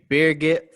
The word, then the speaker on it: Birgit: to reds ramblings i have with me today beerget from over in in estonia um go ahead